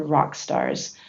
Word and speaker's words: Rawkstars: In 2006, I worked with my favorite client, a non-profit organization called Rawkstars, that provides instruments and music lessons to kids who can't afford them.